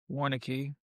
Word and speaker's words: Warneke: We have Warneke. Am I saying it correctly? You got it. Warneke.